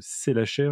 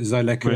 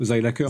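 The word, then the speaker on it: Seilacher: s'appelle le triangle de Selacher, j'imagine que je le prononce bien. Oui, ça c'est la prononciation française. Zeilacher en allemand, Zeilacher.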